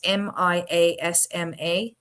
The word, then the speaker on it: miasma: I don't know how to pronounce it. It's MIASMA theory, the miasma theory.